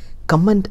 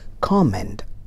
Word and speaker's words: comment: We always say comment under my video. No, it's comment.